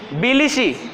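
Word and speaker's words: Tbilisi: और जॉर्जिया की राजधानी है बिलिशी। टी साइलेंट है, सुनामी में भी टी लगा होता है लेकिन टी सुनामी नहीं पढ़ते, सुनामी पढ़ते हैं। ठीक है, तो बिलिशी है।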